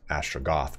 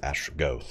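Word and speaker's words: Astragoth: gets greater Arcane conduit I know it's ashra goth but the game pronounces Ash ghost and fancy pants for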